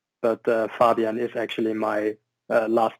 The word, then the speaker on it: Fabian: Obviously, your name is Fabian, and hopefully I got that name right. Pretty much, yeah. In German, we would pronounce it Fabian. Fabian.